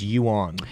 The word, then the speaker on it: yuan: is centralized someone's saying it's yuan yuan it's yeah yeah it is pronounced you want excuse me um the